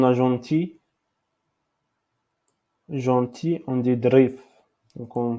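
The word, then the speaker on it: ظريف: Gentil, on dit drif. Donc, on prononce drif.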